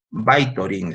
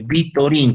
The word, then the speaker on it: Vytorin: muchos años se llamaba Vytorin, se escribe Vitorin con V, con Y, VY, así pueden poner en internet, van a encontrar entonces este medicamento que se llama Vitorin, Vytorin, VY, Torin, Vitorin. ¿Ya?